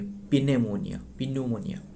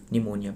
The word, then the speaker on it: pneumonia: निमोनिया ये starting जो कि पी साइलेंट रहता है, ये पिन्यूमोनिया निमोनिया PNEUMONIA।